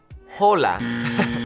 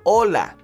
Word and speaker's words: hola: like Ace is H be aware that the H in Spanish is silent so it's not hola hola okay hola we also have the